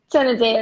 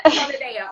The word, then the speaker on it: Tonedo: So, for those who are just joining, today we are talking to the beautiful Latoya Tonedo. Did I pronounce it right? Tonedo, yeah. Tonedo.